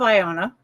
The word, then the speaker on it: Iona: But the Stones of Iona, did I say it right?